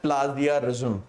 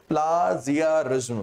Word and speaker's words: plagiarism: उसको अंग्रेजी में बोलते हैं प्लाजियारिज्म। क्या बोलते हैं? प्लाजियारिज्म, प्लाजियारिज्म बोलते हैं सब आपके, है ना, या प्लाजियरिज्म या प्लेजियरिज्म भी बोलते हैं ना, सही प्रोनाउंसिएशन प्लेजियरिज्म है।